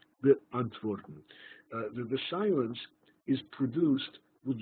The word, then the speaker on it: beantworten: is to answer someone, but it is a moment of silence between the first and the second syllable, beantworten, beantworten.